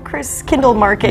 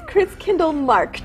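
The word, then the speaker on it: Christkindlmarkt: The proper pronunciation is Chris Kindle Markt. Ah, Markt. Oh, yes, so there's no market, it's Markt.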